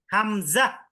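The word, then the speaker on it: همزة: ওয়াও হ্যাঁ ঠিক আছে হামজাহ হামজা হামজা না হামজাহ বাতাস বের করে হামজা হামজা হামজা হামজা হামজাহ হামজা হামজা বলবেন না এটা বলি না আমরা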